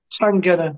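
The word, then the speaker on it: Llangunnor: Think of it like a gunner in the army, like sand gunner. Llangynwr.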